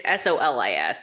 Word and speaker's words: Solis: She's chosen the like class system of Soulless, that's how you say it, right? Soulless is the town. It's Solis.